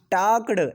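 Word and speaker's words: talked: Second form क्या हो जाएगा, टाक्ड, एल साइलेंट रहेगा, टाक्ड हो जाएगा, है ना।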